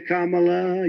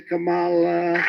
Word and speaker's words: Kamala: They were explaining to me you can say Kamala. You can say Camala.